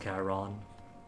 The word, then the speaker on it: Charon: Charon, pronounced Charon. I guess it tracks. CH being CH in Greek. Take it a ka.